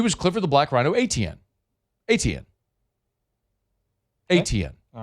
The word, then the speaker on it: Etienne: Growing up, it's Travis Etienne, so it'd be like Achane, and that's how you always said Travis Etienne.